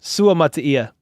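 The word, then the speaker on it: Suamataia: It's like mutt. Suamatia. But it's his accent. Say that again, said Brando. Suamatia. That's how you say it. I say mat sometimes just because I'm freaking white as a saltine cracker. Suamatia, but it's Suamatia. If you want to use the accent of that syllable.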